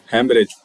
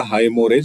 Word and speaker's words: हेमरेज: ये देखिए, हेमरेज, हेमरेज pronounce करते हैं इसको। ठीक है, दिखने में कुछ और लग रहा होगा, हाइमोरेज, लेकिन हेमरेज इसको प्रोनाउंस करते हैं।